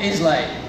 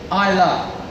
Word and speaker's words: Islay: funny little place called Islay. But it's not Islay. It's spelled like that again. The Scottish love spelling things and saying it differently. Keeps you on your toes. It's actually Islay. Like, I love you.